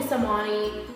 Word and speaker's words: Samani: So if you want to call me Samani, you can. It's pronounced Samani.